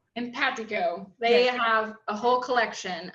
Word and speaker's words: Empatico: And Isabella, can you help me with how to pronounce their name? Empatico. Empatico.